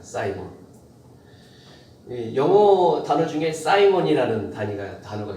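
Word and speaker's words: Simon: 시몬은 영어식 발음으로는 사이몬입니다. 사이몬. 영어 단어 중에 사이몬이라는 단어가 있어요. 사이몬.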